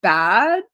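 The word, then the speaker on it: Badb: like often given to I think it's pronounced bad it's like b-a-d-b so it's like one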